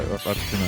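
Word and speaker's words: Articuno: Nobody pronounces, like, the second C in Arcticuno. What are you talking about? Oh, Arctic. Yeah, Arcticuno.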